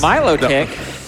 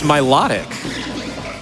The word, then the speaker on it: Milotic: is it Groudon yes Milow tick no my low l l l l oh my I see no it's Milotic wait how do you